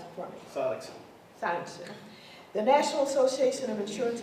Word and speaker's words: Sonnenschein: Sonnenschein, you pronounce it for me. Sonnenschein.